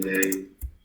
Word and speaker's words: they: La TH de they tiene un símbolo fonético que es así, mira. Es una D vibrante.